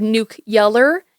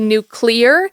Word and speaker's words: nuclear: I will say at one point he said nuke yeller instead of nuclear.